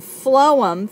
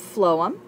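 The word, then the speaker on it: phloem: of water xylm and flum phonetically sounds like food so so flum uh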